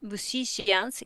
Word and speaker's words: musicians: One problematic pronunciation, this one. Music. Mhm, it's music. Musicians. Yes, musicians. So, Musicians. Mhm, mu si cians, musicians.